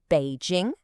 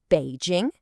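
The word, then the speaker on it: 北京: The pronunciation is Běijīng. Let that sink in for a second. Běijīng.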